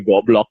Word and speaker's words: Goblok: Tetris versi kita namain goblok. Go, blocking gitu kan, tapi dibacanya kan jadi goblok gitu.